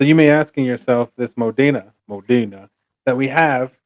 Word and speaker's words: Modena: you're gonna be like, "Of course, it's Italian. It's Modena. Modena." Right. So you may asking yourself, this Modena that we have, it's